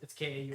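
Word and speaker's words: कौन: I'm gonna pronounce it wrong. So what is it? Gone, Gone. which means who? Question mark. Yes. Kraun question mark. Kaun. No, Kaun. Kraun. Kaun. It's Kaun.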